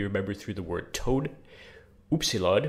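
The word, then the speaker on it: upsilon: through the word toad oopsy we remember through a French U so much like in French that's that sort of U then we have thi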